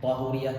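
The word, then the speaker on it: طهورية: Tahuriyah itu menyucikan. Tahuriyah bacanya bukan tuhuriyah ya.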